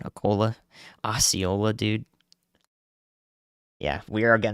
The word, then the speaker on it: Osceola: Acola? Okay, I got the pronunciation. Acola. Osceola, dude.